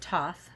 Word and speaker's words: Thoth: And they pronounce it Thoth, or Thoth here, is also known as Tahuti, is the Egyptian ibis-headed god of writing, divine magic, and the moon.